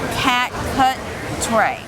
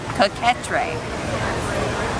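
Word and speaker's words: coquetier: hold on let's try this they've got the pronunciation cat cut tray coquetrae cat cut tray the catrice there are many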